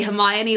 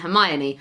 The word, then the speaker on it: Hermione: with all the pronunciations, so I used to say Hermione like Hermione, and I was in primary school at the time, so it took a teacher during our reading session, and I was reading Harry Potter to her, and she pointed out how it should be pronounced, and I thought back